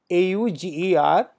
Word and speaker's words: auger: A-U-G-E-R and auger. Now, what is the difference? The pronunciation seems to be the same, auger.